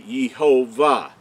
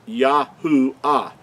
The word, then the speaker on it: Yahuah: understand that the Creator's name could not be yehovah it's yahoo ah now where the third